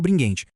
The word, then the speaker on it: Bringhenti: E é com essa visão gigantesca que a gente explora os conceitos do Márcio Bringuente, que aliás a gente pronuncia bringuente com som de gué, tá?